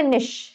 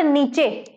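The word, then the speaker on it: niche: होता है ना हैबिटेट दूसरा वर्ड आता है निश दिस इज नॉट नीचे मैंने देखा एक बच्चे को बोलते हुए इसको ये स्पेलिंग लिखे तो कह रहा नीचे बेटा अगर आपने इसको नीचे बोल दिया ना तो आप बहुत बच्चों से नीचे ही हो जाएंगे ठीक है तो यह नीचे नहीं है दिस निश क्या है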